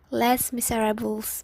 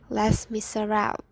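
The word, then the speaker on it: Les Misérables: last miserable so um i often read that as less miserables because i don't know the pronunciations but it's actually les miserables so after 19 years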